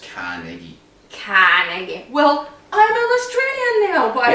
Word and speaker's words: Carnegie: Where am I putting the stress in this word? Carnegie. I don't know. Or Carnegie. How do you say it correctly? Australian, it's Carnegie.